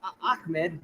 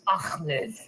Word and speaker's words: Ahmed: So, uh, Akmed. No, no. Is Ahmed.